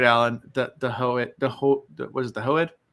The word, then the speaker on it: Hoed: The Hoed, what is it, the Hoed? The Hoed, not the Hoid. Sorry, the Hoed. I thought it was the Ho. I think she's saying Hoed. The Hoed, not the Hoid.